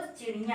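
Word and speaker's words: चिड़ियाँ: क्यों करना हुआ, क्योंकि आपका यहाँ पे जो है चंद्र बिंदी लगा है, तो चिड़िया ना कह के आपको चिड़िया कहना होगा, ठीक है।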